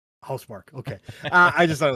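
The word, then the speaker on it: Housemarque: Mark or as as MAV likes to say house Marquee which I thought was hilarious I was sitting at work going Ma it's it's house Mark M stop the dev said it the dev said it right away he's like oh hous Mark okay I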